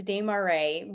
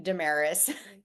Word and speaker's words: Desmarais: If you want to say it correctly, the French way, it's Desmarais, but a lot of my family members say Damaris because they just Okay, okay, Americanized it.